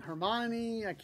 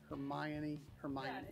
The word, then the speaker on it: Hermione: And Hermione, still can never say her name. Hermione, that's better.